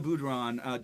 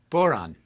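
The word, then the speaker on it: bodhrán: Boron. Damn, I was so close. The Just boron, think. the drum. Just think. this- Moron. Boring? Boron. Borat? Boron? It's like moron, but with a B.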